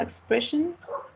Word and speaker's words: expression: And finally, expression. It has 3 syllables, and the stressed is the second one.